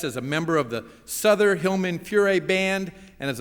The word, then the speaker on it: Souther: was a beautiful introduction even if you didn't pronounce my name right it's Souther and I am from